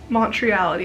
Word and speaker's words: Montreality: Montreality, that's how you say it.